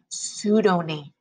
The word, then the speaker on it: pseudonym: He chose Sue Denim because it sounds like the word pseudonym.